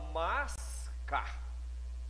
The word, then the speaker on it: mascar: Eu falo mascar. Então, observe que eu tenho um fonema S, mas, e tenho o fonema K, que é do C.